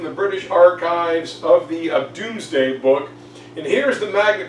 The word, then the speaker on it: Domesday: And William wrote this down in a book called the Doomsday Book. It's spelled Domesday, but it meant Doomsday.